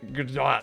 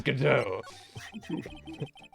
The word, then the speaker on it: Godot: His name is Godot, that I actually pronounce Godot or something until my dad corrected me. A true story, I think. Got it? It's Godot.